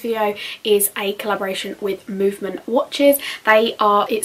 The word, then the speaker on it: MVMT: my channel today's video is a collaboration with movement watches they are it spell MV MT but it's pronounced movement they have created their company on the belief